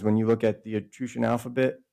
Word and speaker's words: Etruscan: I say Etruscan, not Etruscan, because it's a Latin word, Etrusi, and the SC is pronounced like an SH in Latin.